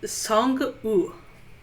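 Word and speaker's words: Sang-woo: and then there is song you don't pronounce the w that is the villain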